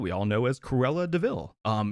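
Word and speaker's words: de Vil: all know as cruella deville um it's it's spelled devil but pronounced deville that's it's clever so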